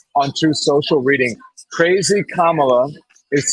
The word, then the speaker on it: Kamala: You look at this now in 2024, it's the mispronunciation intentionally. Kamala, right? KAMALA. These are subtleties that are intentional and they're divisive.